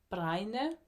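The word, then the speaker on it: Bregne: means fern and danish it's pronounced more like brainer sweater don't even look up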